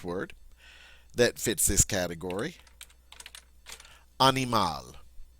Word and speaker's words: animal: Animal. Just like the English word, except it's pronounced French. Animal, animal.